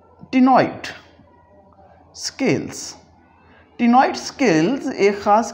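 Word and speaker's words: ctenoid: या फिर इसी तरह से हम एक और वर्ड बोल रहे होते हैं यहाँ पर जिसका ताल्लुक इसी प्रोनाउंसिएशन से है, टिनॉइड स्केल्स।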